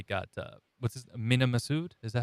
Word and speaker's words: Massoud: love that they got uh what's this mini masood is that how you say it yeah massoud nina massoud i love that they got him